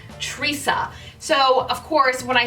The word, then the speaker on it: Trissa: I believe you pronounce this wig as Trissa.